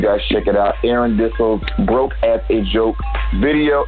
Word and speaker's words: Dissell: Am I pronouncing your last name right? Yeah, can you hear me? No, it's Dissell. Dissell, excuse me.